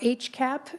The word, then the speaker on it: HCAP: on the health care access Improvement program or hcap as we pronounce that acronym so I've been I think since I started in this job I've been providing updates about the age cap to this committee it's possible Madam chair that